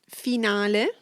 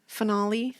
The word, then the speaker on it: finale: Finale. Finale. Yeah, here it gets a little butchered. Finale. Finale is the original.